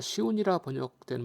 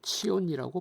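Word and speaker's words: צִיּוֹן: 말하는 겁니다 발음이 다른데 우리가 시온이라는 발음은 히브리어로 치온이라고 발음합니다 미국 언어학자 젤리그 해리스와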